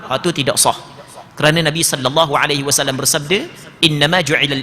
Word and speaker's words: sallallahu: Sama juga sallallahu, bukan sallah. Sallah warna pula, sallah. Sallallahu.